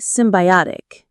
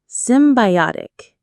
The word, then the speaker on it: symbiotic: It should be symbiotic. This is a wonderful word from biology. Symbiotic. Symbiotic. The stress is on the third syllable.